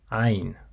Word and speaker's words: ع: Ayn, ayn. Once again, it's ayn. It is a voice sound, so your vocal cords should vibrate when you pronounce it.